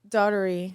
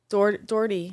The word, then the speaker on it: Doherty: Doherty. Doherty. That's what I said. You said it's Doherty. Doherty. You're saying Doherty? Doe. Doe? Doherty. Erty. That's Irish. Doherty. Doherty. Shannon Doherty.